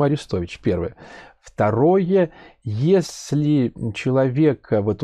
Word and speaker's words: Арестович: всего я надо уточнить потому что ударение арестовича или арестович я не знаю и ни в коем случае нельзя обижать всё-таки по-моему аристович первое второе если человека